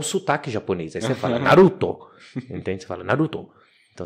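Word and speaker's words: ナルト: que ele vai falar ele não fala Naruto ele fala Naruto então tipo o o japonês ele é sempre oxítono hum a a sílaba forte é sempre a última Então não é lamen é lamen não é Naruto é Naruto entende então e quando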